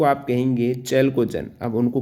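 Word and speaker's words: chalcogen: 16वां group को आप कहेंगे चैल्कोजन। अब उनको कैल्कोजन भी आप बोल सकते हो, प्रोनाउंसिएशन में कहीं कहीं चैल्कोजन भी कहते हैं, कैल्कोजन भी।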